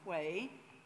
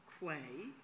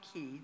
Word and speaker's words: Quay: The illustrations are by Emma Quay. Quay, not Key. Don't ask me why, but Quay is the way to pronounce her name.